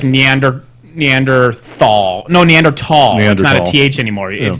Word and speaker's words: Neanderthal: now it's like Neander neanderthal no neanderthal eh anymore you you pronounce the T and the H so it's Neanderthal yeah whatever the point